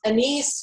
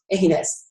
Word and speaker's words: anise: and that it's pronounced anise, not anus.